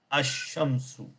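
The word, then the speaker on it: الشمس: So al-kamaru ash-shamsu. So in the Shamsi, I did not pronounce the al.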